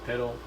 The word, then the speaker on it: Pytal: just changed that, and I was calling him Pytal, even though I wanted the pronunciation to be Piddle, because that's how it looks, but then I just changed it to Pytal.